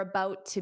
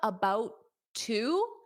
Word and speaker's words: about to: They're about to be. Now, when you have about to, so notice how I don't pronounce that T on about because there's already a T on to.